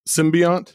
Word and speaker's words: Symbiont: uh Molly abuan out on September 27th called symbiant am I pronouncing that correct yeah okay um I'm curious